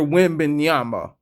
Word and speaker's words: Wembanyama: Victor Wembanyama.